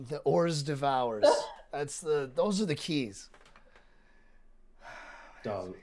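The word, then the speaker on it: hors d'oeuvres: All right, because I like that word, and usually the first one gets pronounced with an H, and I'm glad you didn't go with that one.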